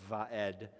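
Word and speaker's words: ועד: And it just sounds like v, okay? Like we said, vaed. And the dalet at the end of the word, it sounds like d, as in door, all right?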